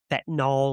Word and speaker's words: fentanyl: Overdosing him on, how do they pronounce it? Fentanyl or however. Fentanyl, you said it right.